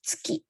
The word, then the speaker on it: tsuki: Seperti cara baca bulan di Jepang itu tsuki ya, tsuki.